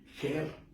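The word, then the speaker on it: Herr: el señor ger gas ger en alemán es señor y gas significa lo mismo gas Ah por eso es gergas Sí en en alemán nada más que se escribe con h h e r r señor y gas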